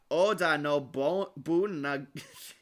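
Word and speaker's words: Oda Nobunaga: It's pronounced Oda no Bunaga.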